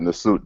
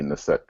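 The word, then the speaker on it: Neset: First, I said Nasut, but there is no U there, so then this next time will be Naset.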